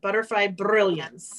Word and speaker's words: Butterfly Brilliance: And you have to roll your R when you say that. Butterfly Brilliance.